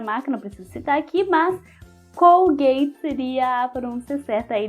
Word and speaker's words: Colgate: Colgate É isso aí Colgate aí no inglês com gay com gay então a pasta de